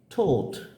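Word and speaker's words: taught: টট নয়, আমরা বলি টট, কিন্তু এটা হচ্ছে কি ঠোঁট।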